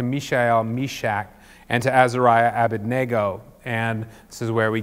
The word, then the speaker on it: Abednego: Meshach; and to Azariah, Abednego. And this is where we get Shadrach, Meshach, and Abednego, or Abednego if you say it wrong like I did when I was a kid.